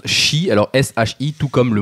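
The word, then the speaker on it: 四: Non, tout simplement parce qu'il se prononce shi, alors S-H-I, tout comme le mot mort en japonais.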